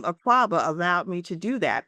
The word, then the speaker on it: Akwaaba: People still say, "Oh, waka, waka," and because they can't pronounce it.